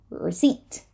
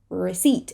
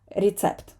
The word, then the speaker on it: receipt: students it is receipt we do not say the P receipt receipt and it is not recept right it is the